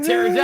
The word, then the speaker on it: pterodactyl: can't you hear a pterodactyl going to the bathroom? Because it's making jet fuel I don't out know. of poop. Because the P is silent. Get it? Ah, pterodactyl.